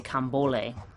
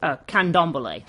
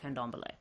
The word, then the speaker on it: Candomblé: I want to say Cambole, but I don't remember if I'm missing a, what you call it? What is it? Candomblé. Sorry, I knew I was missing a syllable somewhere. Candomblé.